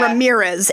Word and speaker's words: Ramirez: But yeah, Ramirez. emphasis on the second syllable.